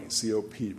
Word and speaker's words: COP: conferences of the party COP pronounced cop the u.s.